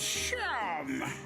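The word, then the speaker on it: Seam: The name seemed pronounced Sham.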